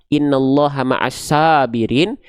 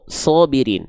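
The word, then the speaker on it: الصابرين: Ketika huruf sad berharakat baris atas kan kita enggak baca innallaha maasabirin tapi innallaha maas maas shobirin dengan bunyi vokal seperti O ya.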